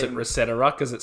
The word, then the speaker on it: ResetEra: Yeah, let's talk about the state of the Reset era.